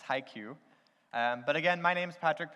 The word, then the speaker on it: HiQ: Cosmetics, and it's pronounced HiQ. I guess that kind of looks like high K if you want to speak Spanish, but it's HiQ, it's not Hick. We get that a lot, so it's HiQ.